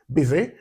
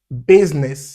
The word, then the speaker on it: business: But letter u in the word b y is pronounced bz. So it's the it sound busy. Business. Yeah. So business.